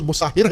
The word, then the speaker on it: مصہر: السیداوی، قیس ابن مصہر، اصل تلفظ مصہر ہے، مصہر بھی پڑھتے ہیں لوگ اس کو، لیکن جو ان کا اصلی نام ہے مصہر ہے، سیداوی۔ سیدا ان کا